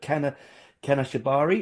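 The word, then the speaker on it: Kanashibari: Like I really liked, and I'm going to really badly embarrass myself by saying this, but Kana Shibari, is that how you Yeah.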